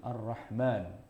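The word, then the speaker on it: الرحمن: Cuma orang sedunia bacanya pasti mimnya dipanjangin, Ar-Rahman.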